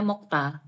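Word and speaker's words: 먹다: masida ya mokta masida saya ini kenapa dibacanya mokta udah memang begini karena contohnya sigdang kita bacanya siktang makanya mokda bacanya mokta Ya oke sem kok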